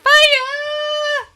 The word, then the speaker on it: FIYE: That's pronounced fire bonus.